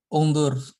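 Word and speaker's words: اُنْظُرْ: Kenapa ungdur? Kenapa kau milih ungdur bukan angdur? Karena huruf Ketiganya ketiga. Ya, mana huruf ketiganya? Ya, huruf dha ya. Huruf ketiganya itu dihitung dari hamzah ya. Hamzah pertama, ini nun kedua, dha yang ketiga. Huruf ketiganya adalah dhammah. Maka hamzahnya diberi harokat dhammah.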